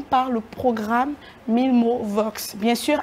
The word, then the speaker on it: Vox: Alors, Mille Mots Vox, au niveau de Vox, on attend VOI un peu comme la voix. Ouais. Il est vrai que dans certaines écoles, les gens prononcent mal en disant voice, en passant non, c'est Mille Mots Vox.